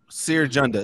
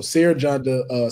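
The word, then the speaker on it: Cere Junda: Sir Junda. It's C-E-R-E. J-U-N-D-A. Yeah, I spelled it right. I just didn't know how to pronounce it. So Sarah Janda, Sonic the Hedgehog, the Black Ranger, the Mandalorian, Kick-Ass, Kratos, Mario.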